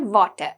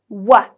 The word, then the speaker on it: water: It's not water, okay? We don't say water. We say wa.